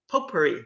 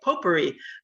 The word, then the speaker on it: potpourri: kind of a poor potpourri that's how you say it potpourri of uh topics i